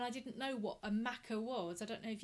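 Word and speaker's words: machair: mother there if she's watching um but it's pronounced maca and it's a kind of low-lying fertile ground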